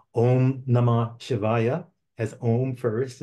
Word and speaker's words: Om: And when you finish with the M sound, you should resonate with that nasal sound, Om, because that sound at